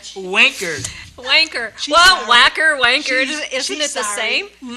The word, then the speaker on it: Wacker: Wanker. I'm going to tell her how you pronounced her name. Wanker. Wanker. She's Well, sorry. whacker, wanker, She's- isn't she's it the sorry.